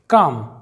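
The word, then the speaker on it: calm: है हथेली तो यहां पर एम के पहले एल साइलेंट है काम इसका मतलब होता है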